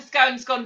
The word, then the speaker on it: scone: It's scone. It's cone with an S on the end.